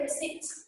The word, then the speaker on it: receipt: Have you ever heard though somebody saying, "Can you please pass me the receipt coming from the shop?" Receipt. The P is silent. It's the silent consonant.